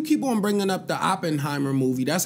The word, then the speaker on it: Oppenheimer: yo and you keep on bringing up the Oppenheimer movie that's how you say it yeah yeah